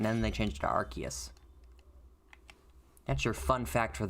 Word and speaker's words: Arceus: They changed, that's the only Pokemon that I can think of off the top of my head where they've actually legitimately changed the pronunciation of it after they released the Pokemon. Because it used to be Arceus, and they're like, oh wow, Arce is a bad word. So we're going to change that.